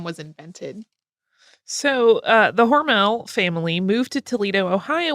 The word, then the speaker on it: Hormel: their last name was originally pronounced horrible to rhyme with normal and it's not totally clear when Hormel became Hormel um because we've both been saying Hormel all our lives and